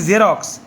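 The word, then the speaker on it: Xerox: এরপরে ভিথ্রি জেরক্স photocopy ইংরেজি জেরক্স এক্স ই আর ও এক্স উচ্চারণ জেরক্স ভিথ্রি হলে ইডি হবে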